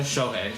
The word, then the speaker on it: Shohei: Shohei? Shohei or Yeah, Shohei Shohei Ohtani.